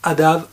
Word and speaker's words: ADAMH: avec 1h à la fin et ça se prononce adam en gaélique j'ai bien appris la leçon voilà